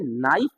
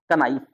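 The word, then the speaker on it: knife: तो क्या करते हैं, नाइफ, कनाइफ, अरे नाइफ में बोलता हूँ, तो कनाइफ है, क्योंकि के बाद जब एन आता है ना, तो के का यूज प्रोनाउंस नहीं होता है, ओके।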